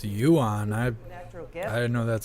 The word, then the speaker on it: Yuan: East with Africa with Francis I guess it's Yuan I know that's how it's pronounced White House we've added 20 trillion to